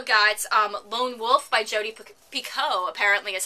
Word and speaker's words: Picoult: I also got Lone Wolf by Jodi Picoult, apparently is how you pronounce it.